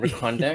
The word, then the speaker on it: Recondo: Yeah, and rhymes with Secondo. And Recondo.